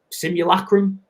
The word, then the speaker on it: simulacrum: and we're in some sort of sim simul simulacrum is how you say it so it's like